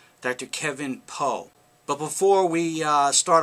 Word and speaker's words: Pho: now uh Dr Kevin Poe it's spelled pH but it's pronounced PO is a practicing board